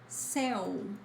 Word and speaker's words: céu: And céu, céu, open, means sky.